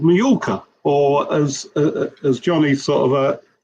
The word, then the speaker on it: Mallorca: And the other one is a track called Mallorca, or as Johnny sort of pronounces it, Majorca.